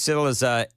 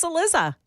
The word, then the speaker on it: Cillizza: But what I also did was I called Chris Cillizza a once respected journalist.